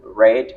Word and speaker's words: read: J'ai utilisé le verbe to read, mais je l'ai prononcé read parce que le verbe est au simple past. L'orthographe est demeurée pareil, mais la prononciation a changé.